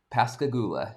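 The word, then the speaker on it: Pascagoula: uh pronounced the first place. It's not as easy as Tom Joberwalsski. Pasigula.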